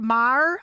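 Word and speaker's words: Meijer: company out there that's called meyer i think that's how they pronounce it it's m-e-i-j-e-r that's how i would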